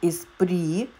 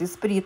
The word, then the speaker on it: Esprit: И брючки от компании Espri. Меня часто поправляют, говорят Esprit. Нет, Espri. В соответствии с правилами английского языка название Esprit читается как Espri.